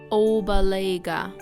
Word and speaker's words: Opelika: This is how they are pronounced in the Muskogee language. Obalega, Suliagaga, Daladigi, Daskigi, Eufaula, Istiaboga.